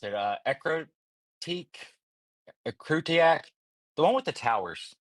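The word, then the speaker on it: Ecruteak: I never know how to pronounce it. Ekrutiak, the one with the towers. Ekrutique. Ekrutik.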